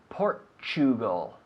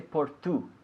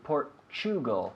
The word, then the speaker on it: Portugal: pronunciation because we say Portugal we don't say por Tu we say Portugal like the word picture right or mature the t u sound choo choo Portugal Portugal so at